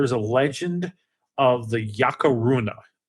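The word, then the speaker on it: Yacruna: a legend of the yakar Runa it's called yakar Runa it's spelled y a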